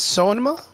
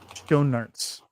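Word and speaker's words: Schoenaerts: Um Matias Sonoma. No. Uh uh it's Matias Donuterts. I I cannot spell it.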